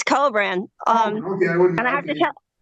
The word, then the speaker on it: Kobran: cin is that how you say it it's cobran um okay I have to but I have